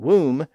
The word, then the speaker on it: womb: We also have silent B's at the end of some words from old English like dumb, lamb, climb, comb, and womb.